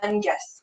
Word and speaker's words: Menges: And it's a G, not a J, right? Menges.